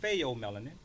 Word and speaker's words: pheomelanin: So now the second melanin is called pheomelanin, which is spelled P-H-E-O.